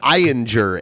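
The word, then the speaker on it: Ayinger: beer it's by uh I don't know how to say it with a with a good German accent so I'll just say it the American way it's I injure a-y-i-n-g-e-r I injure anyone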